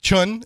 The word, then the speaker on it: Chiun: Remo Williams and his mentor I always say chiong but how do you how do you pronounce it I pretty much like that it's children Chun okay who is it who's this mentor insin